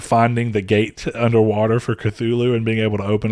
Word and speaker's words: Cthulhu: the gate underwater for cthulhu and being able to open it up i'm sorry tulu because that's technically how yeah it's nobody pronounces it right though so it's fine